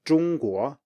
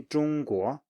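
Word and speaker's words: 中国: So the first example is 中国, 中国. So it's a flat 中国. Okay, say after me, 中国.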